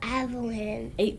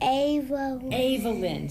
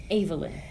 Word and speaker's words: Avalyn: are you evelyn but my name's evelyn how do you say it avalyn sorry avalyn that is very pretty how